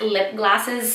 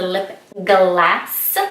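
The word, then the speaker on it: Lipglass: I'm so excited because I love MAC lip glosses so much. And yes, I'm pronouncing it right. It is not lip gloss, it is a lip glass.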